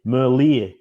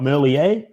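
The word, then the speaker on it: Merlier: It's like the ear on the side of your head. Merier because he's Flemish. He's not French. He's not Merier.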